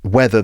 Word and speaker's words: whether: That's whether, the conjunction, W-H-E-T-H-E-R. But we've also got another word, weather, like rain, sunshine, wind. That's W-E-A-T-H-E-R. The pronunciation is the same.